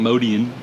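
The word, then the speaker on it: Motian: this Trio with pal modian I feel funny saying modian but that is the correct pronounciation modian is really the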